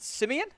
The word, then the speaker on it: Simeon: I think it's pronounced Simeon. It's just Simon.